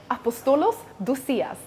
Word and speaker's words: Apostolos Dousias: to our very own CEO Chief Operating Officer apostolos dusias welcome thank you for having me did I pronounce your name correctly you did pronounce it